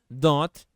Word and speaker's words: don't: agora perceba por aqui a pronúncia não falou o t quando você fala don't sozinho você pode falar o som de T don't don't Porém quando